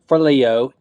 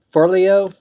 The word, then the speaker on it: Forleo: book is everything is figure outable by marie forleo did i pronounce that right for leo let me check that out for leo i